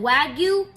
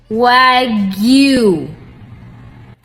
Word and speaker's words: Wagyu: If you call it Wagu, you're saying it wrong. It's pronounced Wagu.